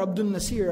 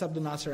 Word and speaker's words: Abdul Nasir: If somebody walked up to me and said, oh, as-salamu alaykum, brother Abdul Nasir, I'd be like, it's Abdul Nasir actually.